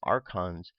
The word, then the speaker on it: archon: any religious or governmental authority hence the plural archons is often described the Gnostic texts as the